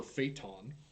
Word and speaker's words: Phaeton: So one, I have a 2005 Volkswagen Phaeton, or Phaeton, as the Germans would like you to pronounce it.